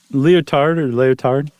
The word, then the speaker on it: Lyotard: How would you pronounce that? Is it Lyotard? Lyotard.